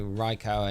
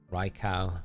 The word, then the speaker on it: Raikou: But I know my Raikou and Entei, they are definitely not shiny, which is sad, big sad.